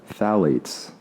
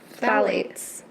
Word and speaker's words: phthalates: The pH is silent. That's what I heard. Phthalates? Phthalates. Yeah. I thought it said phthalates. You have? You might be right. I don't know. Phthalates. I definitely think the P is silent. It's like pterodactyl.